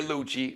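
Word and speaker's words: Luchi: And Don Lucci, they're Lucci, not like Susan Lucci, not like Erica Kane from All My Children.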